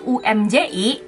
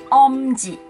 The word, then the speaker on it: Umji: Tulisannya memang UMJI, tapi bukan Umji, tapi Omji.